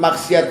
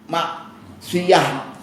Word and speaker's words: maksiat: Kita sering dalam bahasa Indonesia menyebut maksiat itu dengan mim, kaf, sin, ya, dan ta maksiat. Padahal aslinya pakai ain ma maksiah maksiatun. Kalau di di apa? Diwakaf musnya bacanya maksiat. Tapi enggak apa-apa karena sudah biasa kita nyemnya maksiat maka enggak apa-apa.